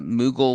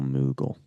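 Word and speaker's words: Moogle: Uh so, how about um uh Mughal Merchant? I don't know how to I haven't played Final Fantasy, so I don't know how to pronounce that first name, unfortunately. Uh, how do we spell Mughal?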